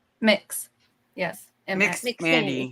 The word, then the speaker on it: MX: Mix. Yes. Mix MX. Mandy. Mix Mandy. So not Mandy. MX. Okay, Mix Mandy. It is MX, but that's how you say it.